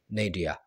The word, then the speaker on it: nadir: British English में इसे पढ़ा जाता है नेडिया, नेडिया एंड नेडिया। थोड़ा सा अजीब लग रहा होगा आपको। अमेरिकन इंग्लिश में इसे पढ़ा जाता है नेडर, नेडर और नेडर। नेडिया का इस्तेमाल डेली लाइफ